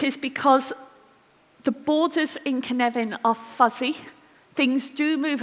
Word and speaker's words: Cynefin: So do you know the name Kevin, like Kevin Costner? Say Kevin. Kevin. Say Kevin. Right? Put an in it. Say Cynefin.